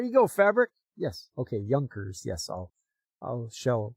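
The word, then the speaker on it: Junkers: Oh, pronounced Yunkers. It's German, so they're accurate. Following a German Japanese collaboration. Late 20s, 29s, early 30s. There you go. Fabric. Yes. Okay. Yunkers.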